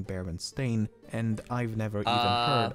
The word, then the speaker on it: Berenstain: name as berenstein and not baron stain i also find it to be the most simple to explain first of all i actually had to re-record lean segment multiple times as i found myself pronouncing it berenstein even when i should be saying bear and stain and i've never even